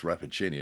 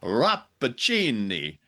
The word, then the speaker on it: Rappaccini: So, Rappaccini isn't pronounced Rappaccini. It's pronounced Rappaccini. Like a TV commercial for pasta sauce.